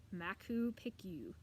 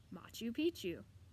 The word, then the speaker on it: Machu Picchu: people and places I got to this one Machu Picchu and I said something like Mac who picked you bad mouth she said Machu Picchu I thought she was nuts until my mom